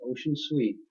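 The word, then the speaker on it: Ossian Sweet: by a black man, Ocean Sweet. It's Ossian, but it's pronounced Ocean Sweet.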